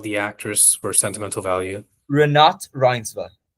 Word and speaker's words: Renate Reinsva: Renate Reinsva. Renat Reiser. I've been butchering that in my videos.